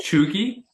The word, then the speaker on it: cheugy: or like you're you're trying too hard so Choi Choi yeah spell it's spelled c h e u g y